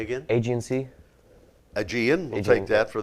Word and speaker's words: Aegean: Agency. Say again? Agency. Aegean. We'll Aegean. take that for the pronunciation on that.